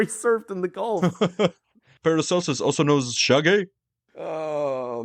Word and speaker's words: Paracelsus: In On the Nature of Things, the Swiss alchemist Paracelsus, I completely mispronounced that, Paracelsus.